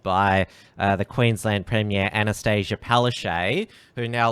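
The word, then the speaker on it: Palaszczuk: the queensland premier anastasia palestine who now a lot of people are now pronouncing pale chook using that uh that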